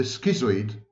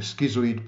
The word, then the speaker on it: schizoid: and even online, the schizoid personality. I know, Americans should say schizoid, but of course it's the wrong pronunciation of the word.